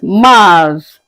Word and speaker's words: mars: In French, we call it Mars.